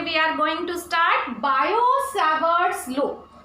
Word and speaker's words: Biot-Savart: Hello students, today we are going to start Biot-Savart's law. It is not the Biot-Savart's law, it is Biot-Savart's law. T is silent in it, and this law is